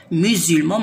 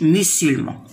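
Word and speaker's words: les musulmans: باسكو هذه سي اون كونسون موراها فوايل، اس الاس كيكون موراه فوايل يقرا زد، ينطق ز. ميزولمون ما نقولوش ميسولمون.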